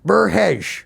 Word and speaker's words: Merhej: Yeah, no, you said it right the first time. Burkesh.